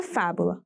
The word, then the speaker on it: fábula: Aqui também podemos identificar facilmente a sílaba tônica. Afinal, eu tenho um acento agudo na sílaba fá.